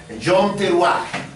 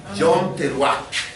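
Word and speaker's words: יום תרועה: Bueno, la fiesta de las trompetas en hebreo se pronuncia Yom Teruah. Yom Teruah.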